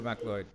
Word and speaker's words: MacLeod: Au it's e o That's All Right m mloy is the old Celtic yeah pronunciation of it anyway we got M here that's why that's uh how we say it down here yeah yeah so www.